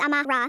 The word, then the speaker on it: Amara: I said, "No, it's Amara. 3 syllables, like mama with Ra at the end.